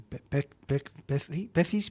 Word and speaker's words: Pecis: Eh, te lo para para que lo pronuncies bien, Pérez Cisternes son las dos primeras palabra de su apellido. P de perro y cis. Pecis. Pecis.